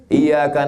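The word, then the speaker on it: إِيَّاكَ: Ar-Rahmanir Rahim, Maliki Yaumiddin, Iyyaka na'budu wa iyyaka pakai tasydid.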